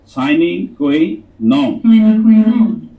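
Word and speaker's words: sine qua non: ये जो टर्म बोली गई है आपके सामने, ये उसकी प्रोनाउंसिएशन है साइनिंग कोई नॉन।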